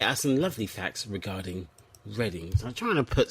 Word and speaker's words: Reading: It's pronounced reading in some places, but it's actually Reading.